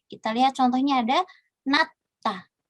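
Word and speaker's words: 낮다: Kita lihat contohnya ada natta. Jadi bukan najta gitu ya, tapi natta. Jietnya dilafalkan menjadi T.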